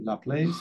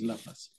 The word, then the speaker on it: Laplace: Some people they say Laplace, but the French pronunciation is Laplace.